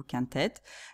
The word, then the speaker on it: quintette: juste avec ET à la fin, mais qu'on prononce toujours quart-tête ou quintette.